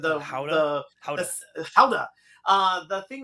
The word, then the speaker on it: Gouda: And it's funny when you were talking about how the pronunciation of the words, like Gouda, that word, Howda.